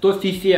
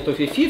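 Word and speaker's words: Toffifee: То есть это «Тофифе» оказывается. Но по правилам, я так понимаю, английского языка, буква «Е» читается как «И». И это понятно, в рекламе тоже там «Наслаждение Тофифи», все нормально.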